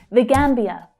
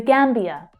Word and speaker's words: Gambia: The Gambia, the Gambia. So we have the unstressed the, Gambia, Gambia. So that first syllable there is the strongest one.